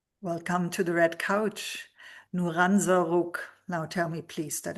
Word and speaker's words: Nouran Zarroug: Nuranza, now tell me please that I pronounced this correctly.